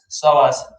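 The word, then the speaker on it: psoas: something called solas muscle starts with p ps solas the d is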